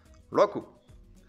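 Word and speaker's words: 六: shi 5e chiffre 5 go 6e chiffre 6 rocco 7e chiffres cette 7ème 8ème chiffre 8 hachey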